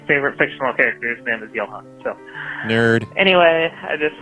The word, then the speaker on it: Johann: but you are somebody's name wrong you said Joe Han and it's pronounced yellow hon you don't know how it